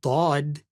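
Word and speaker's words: ض: If a shadda is omitted, or if a letter is substituted for a different letter, like instead of saying dad, you said dal.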